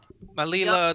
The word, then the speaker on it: Malila: And we washed ashore with, well, the four of us, and also a Malila, the navigator, flying merfolk. person named Malila, Malila, which I sorry. remember because it rhymes with Delilah.